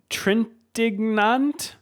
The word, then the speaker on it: Trintignant: The other, Maurice Trintignant from France. This is in the 50s. It's probably AJ pronounced Foyt. Trintignant. That's probably how you pronounce it, French.